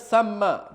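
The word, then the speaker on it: ثَمَّ: Berikutnya tsamma bukan tsumma. Ini kalau gundul susah bacanya.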